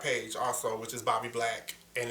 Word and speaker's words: Blvxq: And on there you can actually get to my art page also, which is Bobby Black, and it's spelled BLVXQ.